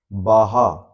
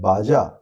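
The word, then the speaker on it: Baja: बोलते हैं, दे प्रोनाउंस, वहां के लोग इसे बाहा प्रोनाउंस करते हैं बट लिखते हैं बाजा।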